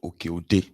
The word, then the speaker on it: Oke-Ode: I believe that's the pronunciation, Oke-Ode, in Ifelodun local government area of Kwara State.